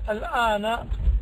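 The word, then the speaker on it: الآن: nahi L Anna and Alana this means now and this is a word which is fixed on fixed meaning it's pronounced with a Fatah always Ayla here Alana this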